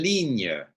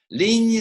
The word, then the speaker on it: ligne: Ligne Signe. rhymes with signe, right? Ligne, signe.